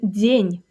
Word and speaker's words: день: And the first word here will be день. День. That means day. For example, хороший день. Good day. One syllable, soft ending.